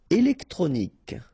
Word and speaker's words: électronique: Électronique. Okay, so, K at the end. Remember, Q-U-E at the end. K.